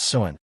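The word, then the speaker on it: Samhain: Long before Halloween was called by that name, it began as an ancient Celtic festival known as Sain, pronounced Suin, the Selts, who lived in what is now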